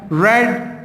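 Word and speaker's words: read: देखिए रीड की वही स्पेलिंग है, मैंने सिर्फ ये बताया था कि प्रोनाउंसिएशन डिफरेंट हो जाएगी। अगर आपको पास्ट पार्टिसिपल फॉर्म यूज़ करनी है तो आप रेड बोलेंगे, या पास्ट फॉर्म में भी रेड होगा, ठीक है।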